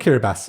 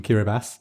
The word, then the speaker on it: Kiribati: this writing system and who made that decision when there was a perfectly functional s in the alphabet to go let's go with the ti that's that's really gonna